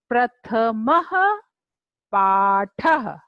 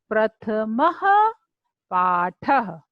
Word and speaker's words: प्रथमः पाठः: अह की मात्रा को विसर्ग बोलते हैं। तो प्रथमः पाठः, उच्चारण कीजिए, प्रथमः पाठः। मेरे साथ साथ बोलिए, प्रथमः पाठः।